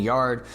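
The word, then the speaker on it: Yarde: I was mispronouncing Yard's last name. It's not Yard, it's Yard.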